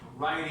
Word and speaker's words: writing: Writing. Writing. So this is like a D.